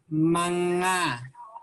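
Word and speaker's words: mangga: hard to pronounce but the way to say it is manga okay good job okay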